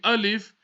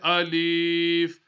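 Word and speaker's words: ألف: when we read the alif we don't stretch it we don't say Alief or we don't say I love we say alif Olive a leaf the next letter ba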